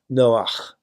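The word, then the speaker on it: נח: So the central character, of course, is, in English, Noah, but strictly speaking, it should be pronounced Noach, which, of course, is the Hebrew word for comfort or rest.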